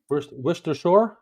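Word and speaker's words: Worcestershire: fish is my where wer Shore prier uh yes he did there you go wer Shore that's how you say it wers w wers w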